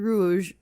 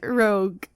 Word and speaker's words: Rouge: I know it's Rouge, right? Khmer Rouge. That's how you pronounce it. But my brain was like, say Rogue. Maybe it's Rogue. No. Wait, is it Rogue or Rouge? Rogue is spelled with R-O-G-U-E. G-U-E, right? I'm right. What's wrong with my brain? My brain wants to sabotage me. Rouge is like the U is before the G.